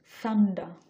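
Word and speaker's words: thunder: পরের শব্দটা আমি পেয়েছি সান্ডা সান্ডা দেখেন আমি লাস্টের র সাউন্ডটা প্রোনাউন্স করতেছি না কারণ আমি ব্রিটিশ প্রোনাউন্সিয়েশন করার চেষ্টা করতেছি যদিও অতটা পারি না আই ট্রাই থান্ডা ঠান্ডা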